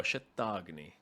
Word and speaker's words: Shatagni: Shatagni.